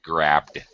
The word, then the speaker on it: grabbed: so grabbed grabed grabed grabbed with a D sound immediately following the B grabbed okay uh all right